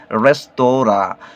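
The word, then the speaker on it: restaurant: রেস্টুরেন্ট শব্দের উচ্চারণটা হলো, যেহেতু এটা ফরাসি শব্দ সেহেতু ফরাসি ভাষায় এর উচ্চারণ করতে হবে রেস্তোরা, কিন্তু আমরা ইংলিশে এটাকে রেস্টুরেন্ট হিসেবেই ব্যবহার করে থাকি আর কি।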